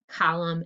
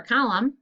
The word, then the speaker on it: column: to check your answers it should be mb for plumber just an m for stomach m n for column and m b for num okay erase and get